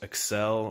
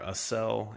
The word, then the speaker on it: Accel: At the time that I got the new engine, that summer I picked up some, I think it's pronounced Accel or Accel, A-C-C-E-L.